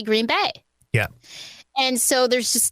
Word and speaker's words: Green Bay: It's because a lot of people say Green Bay, but it's really Green Bay.